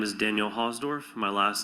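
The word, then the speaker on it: Hausdorf: My name is Daniel Hosdorf. My last name is spelled H A U S D O R F.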